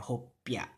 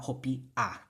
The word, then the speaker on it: hopya: It's not an I, it's a Y, hopya. Hopya, not hopia, right? Hopya. Now, in other languages, yeah, it's probably spelled with an Hopia, but it's definitely not going to be pronounced as hopia. It's hopya.